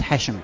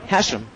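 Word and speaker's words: Hachem: It gives a lot of people trouble because it's a C, but it's pronounced as if there's an S there, so it's Hasham. Hasham, Joseph Hasham.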